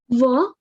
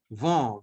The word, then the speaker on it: vent: Va. Vent, very good.